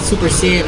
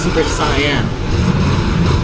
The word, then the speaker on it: Super Cyan: Actually, it's not Super Saiyan, it's Super Cyan. As you can see on your screen, Cyan.